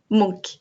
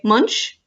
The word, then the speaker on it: Munch: do you pronounce monk that's how you pronounce it monk so an advert monk it's it's a lot of fun because many people say munch which is not the case but also Norway